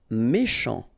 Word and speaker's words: méchant: Méchant. final T not pronounced, then CH, ch, chant, méchant.